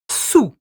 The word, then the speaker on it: sous: So, sur is a long U sound and sous is quite. I was going to say a stopped and dried sound.